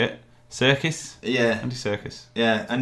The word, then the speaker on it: Serkis: Serkis? Yeah. Andy Serkis. Yeah, and it's spelled like that.